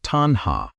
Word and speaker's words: tanhā: The Pali word is tanha, pronounced tanha.